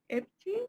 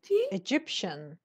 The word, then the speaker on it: Egyptian: Epti. Pronounce it. You aren't Epti. No. Egyptian.